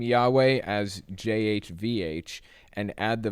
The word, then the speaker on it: Yahweh: the letters y and J are equivalent sound the same as are W and V think German if you spell the name Yahweh as jhvh and add